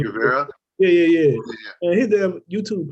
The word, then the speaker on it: Guevara: Yeah, because I was listening at, I don't know if you know Sammy Gravato. You know him, Sammy Gravato, the one with, I might be saying his name wrong, but Sammy Guevara.